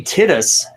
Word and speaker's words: Titus: It's weird that you guys keep mispronouncing his name. It's clearly Titus.